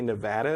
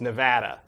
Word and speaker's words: Nevada: I know Nevada is how you pronounce it in the language, but people who live in Nevada say Nevada. Right, Nevada.